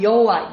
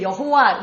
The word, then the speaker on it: 여호와: 그런데이 요드해 와우해 이게 왜 여호와 우리는 이렇게 발음을 하잖아요. 어떻게 됐느냐?요네 요네 가지 글자에다가 아도나이의 그 모음을 넣어서 어 그래서 이제 우리가 여호와 야회 나중에 이제 그렇게 발음하기 시작한 것입니다.